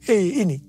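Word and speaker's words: ה: yang terbentuk pada huruf He ini merupakan gambaran celah atau jendela mulut Tuhan yang menghembuskan rohnya. Perhatikan juga cara pelafalan huruf ini. Pun seperti orang yang menghembuskan nafasnya.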